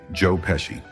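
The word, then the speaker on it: Joe Pesci: One more time, say his name, Joe Peshy, as Tommy Devito.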